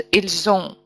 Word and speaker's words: ils ont: Мы говорим о связывании, если у нас слово ил, посмотрите на мой пример, розовым выделенным, начинается, заканчивается на с, которое обычно не произносится. Следующее слово «ун» начинается с гласного звука. И тогда мы связываем эти два слова, и получается «ильзун».